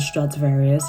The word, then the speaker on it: Stradivarius: In-store, I would say that I shop at H&M and Primark and sometimes Bershka and Stradivarius is how you pronounce it.